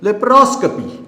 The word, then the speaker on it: laparoscopy: नाउ इट्स pronunciation is laparoscopy.